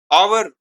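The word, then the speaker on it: hour: An engineer, an आवर, आवर में H silent होता है इसीलिए एन लगाया, आवर को आर भी कहते हैं, एन आर, इसलिए एन का प्रयोग किया जाता है।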